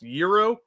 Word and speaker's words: gyro: They said, you're right, it's pronounced Euro.